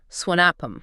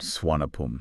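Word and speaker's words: Suvarnabhumi: to hear locals say swanappam. Okay. Like they kind of drop that hard R sound. Swanapum.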